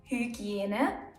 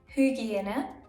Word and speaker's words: Hygiene: Hygiene, Hygiene, baby or baby. Ägypten, Ägypten, Ägypten. Analyse, Analyse. Easy, right? In the middle of a word, it's ü, and at the end of a word, it's e.